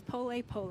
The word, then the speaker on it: pole pole: tell me a little bit about what is pole pole am I saying it right yes yeah yeah